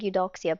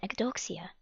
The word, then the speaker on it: Eudoxia: The Empress Eu Doxia. I'm assuming that's the word eudoxia, but just to ensure that we are accurate, let's always make sure we are correcting ourselves as scholars and Eudoxia. students. Eudoxia.